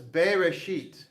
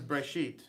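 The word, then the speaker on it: בְּרֵאשִׁית: we roll okay so if we actually look sound this out it's bae rashid bay resheet but the way it's typically pronounced is braishit so this is better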